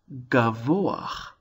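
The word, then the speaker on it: גבוה: Or here's a word, gavoach. Gavoach. Again, we have a bit of a glide between the cholam vav, o, into the hey.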